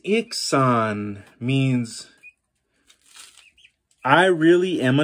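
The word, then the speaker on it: Iksan: Dreji azantis ixan. Dreji azantis ixan. Nice. All you'd missed was the accents. Dreji azantis ixan means I really am a knight.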